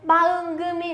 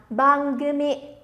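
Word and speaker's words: 番組: Bangumi là chương trình nhá. Chương trình sẽ đọc là bangumi.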